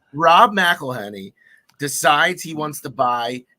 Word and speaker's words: McElhenney: I can't pronounce his last name. McKenna Lenny. I don't know. He's a Philadelphia guy. Okay. Oh, what you call it? It's Always Sunny in Philadelphia. Right. Rob McElhenney.